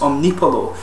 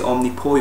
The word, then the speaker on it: Omnipollo: fort chicken saw coil i've seen a lot of people pronounces omni paulo but as actually only poi or so I'm told but these guys are